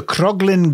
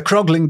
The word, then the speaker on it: Croglin: could tell you also you put an extra syllable in it as well who the who wasn't to indicate a ghost now the krogling Grange vampire was recorded